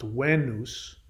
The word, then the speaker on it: Venus: is what wayne because v in latin is actually pronounced as a w the e sound in